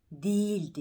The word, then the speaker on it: değil: değil sözcüğü değil sözcüğü değildi yoktur ğ söylenmez ve iyi dönüşür eve iki ses şeklinde okunur değil böyle değil gibi gelecek